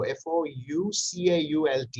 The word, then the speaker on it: Foucault: Discipline and Punishment by Mikhail, M-I-C-H-A-E-L, Foucault, F-O-U-C-A-U-L-T. Yeah, that's true. It should be spelled out because it's pronounced Foucault, but it's written F-O-U-C-A-U-L-T.